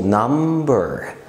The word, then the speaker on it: number: رقم في الانجليش اسمه number، بننطق هنا البي بنقول number.